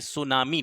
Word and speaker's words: सुनामी: एम ए एन आई सुनामी T silent रहता है इसमें तो सुनामी इसको कहा जाता है सुनामी जापानी भाषा का शब्द है यह भी